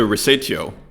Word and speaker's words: Resatio: So anyways, shout out to resatio, and here is the pronunciation. Resatio. Resatio. All right. Resatio. Okay. So now that that's cleared up, resatio. From Indonesian, how to pronounce my name, or just call me Tio, like your uncle.